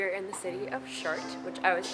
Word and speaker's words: Chartres: so today we are in the city of shark which I was pronouncing the shark for too long so the